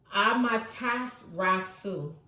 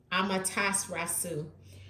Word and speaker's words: Amaterasu: Let me look at the pronunciation. Amaterasu. Amaterasu.